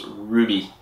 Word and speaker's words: RWBY: Bebop and Ruby and that's spelled RWBY but it's Ruby which Believe It or